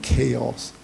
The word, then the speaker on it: chaos: Went to each one of them, cows, cows, cows, cows, cows. So they said, what does he mean by cows? He meant chaos. But he doesn't know how to pronounce chaos, he calls cows, cows, cows, cows, cows, cows.